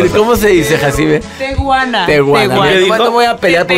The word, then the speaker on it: Tehuana: De tepehuana. Tepehuana. No, no. ¿Cómo dijo? Ver, yo dije tepehuana. Ahí está, ya cantó esta A ver, cosa. ¿Cómo se dice, Jacibe? Tehuana.